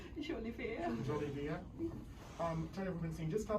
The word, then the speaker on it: Jolivert: Jolivert.